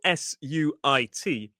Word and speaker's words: suit: So it's spelled s ui t but pronounced suit and it's this idea of a jacket, trousers, maybe a waist coat and a tie and a shirt.